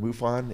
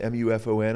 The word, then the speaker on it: MUFON: know, that were, you know, with was it MUFON, MUFON? I'm not sure how you pronounce that. Yes, you got it, MUFON. Yeah, MUFON guys.